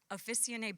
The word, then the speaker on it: Officinae: Oh, I have to say this right. It's Italian pronunciation. Officinae Bio and Deep Wave.